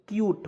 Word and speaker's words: cute: जैसे यहाँ पे CUTE क्यूट होता है ना जी, तो C का उच्चारण आधा के रूप में, UTE है तो इसका उच्चारण यूट के रूप में। तो क्या हो गया दोस्तों? क्यूट हो गया।